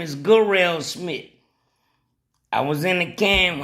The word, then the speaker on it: Smith: His name is Garelle Smith. And he ain't say, hey, my name's Jarrell. Nah, his name is Garelle Smith.